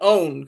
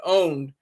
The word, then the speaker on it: pwned: have have I been owned because you don't pronounce the P you say how I been owned site that allows users